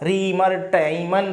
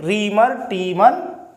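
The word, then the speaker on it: Reimer–Tiemann: रीमर-टीमन reaction, देखिए इसके pronunciation, कोई कहता रीमर-टाइमन रिएक्शन, टीमन रिएक्शन, तो वो जो भी है रीमर-टीमन रिएक्शन।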